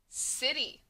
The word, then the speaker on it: city: c says it can c can also say the s sound so you kind of